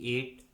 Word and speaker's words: eight: Rule number 2 में हम सीखेंगे यदि किसी इंग्लिश वर्ड में आई के बाद जी एच आता है तो उस वर्ड में जी एच कम्प्लीटली साइलेंट होता है, यानी जी एच का किसी प्रकार से कोई भी उच्चारण नहीं किया जाता है।